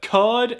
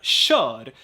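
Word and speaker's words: kör: So we have cud and we have shud, because cud is a loan word, choir. So Should. for some reason, people pronounce it like that. They maintain the K sound, cud. But then we have should, which means Should. drive in the imperative mood. So even those two homographs, they are spelled the same, but different pronunciation rules apply here.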